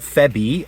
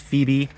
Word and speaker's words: Phoebe: Apparently, yeah, it's not Febby, apparently it's Phoebe.